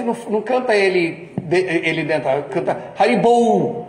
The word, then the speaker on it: Haribol: Apesar de quando nós cantamos Haribol, Haribol, a gente não canta ele dentro, canta Haribol, não é bol, é bolo, é no dente.